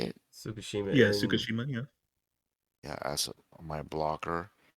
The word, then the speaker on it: Tsukishima: Fukushima. Is that how you say it? Tsukushima Yeah, and Tsukishima.